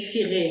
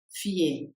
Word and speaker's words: fier: Vous avez dit firer c'est pas firé fier.